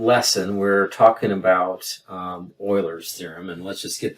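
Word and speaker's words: Euler: EU l r and it's pronounced Oiler not uler or any other version so that's why the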